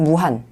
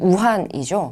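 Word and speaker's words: 武汉: 조선의용대는 1938년 10월 10일 중국 무한, 중국 발음으로는 우한이죠.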